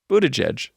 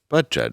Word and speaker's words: Buttigieg: Buttigieg. Butt judge. Is it Buttigieg? Yes, it's Buttigieg. I always forget how to pronounce it.